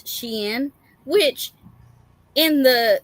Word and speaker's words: Shein: So I've been saying it wrong this whole time, and now I'm learning that it's not Sheen, it's Shein, which in the spelling it Yeah, is Shein, but yeah.